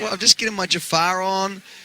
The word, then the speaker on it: Jafar: you got to be jafan right now well I'm just getting my Jafar on uh ja jafan yeah exactly I'm even saying it wrong man what am I